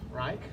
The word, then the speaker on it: Reich: My name is Reich. I can say it the German way here, right? Proper pronunciation.